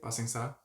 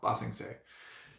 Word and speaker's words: Ba Sing Se: Is that how you say it? Ba Sing Sa? No, Ba Sing Se.